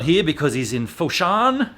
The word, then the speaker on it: Foshan: uh well jeremy's not here because he's in foshan foshan is that how you say it is it